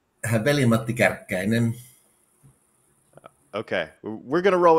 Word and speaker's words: Veli-Matti Kärkkäinen: And so give us the proper pronunciation of your name. Did I do it right? Veli-Matti Kärkkäinen.